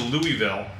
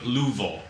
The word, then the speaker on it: Louisville: So we went to Louisville. So Louisville, as they call it. That's how they say it.